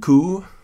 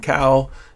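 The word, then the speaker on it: coo: edited in Lightroom um this is a Highland coup they're called they're called coups I guess I thought it was a highland cow and I was corrected by Scottish people every time I said it wrong and um yeah so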